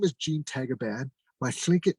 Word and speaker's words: Tagaban: My father was Tlingit Filipino, and he in the Philippines is pronounced as Tagaban.